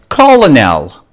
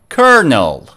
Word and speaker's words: colonel: can pronounce it correctly colonel oops that was a wrong pronunciation how about this kernel good job what about this one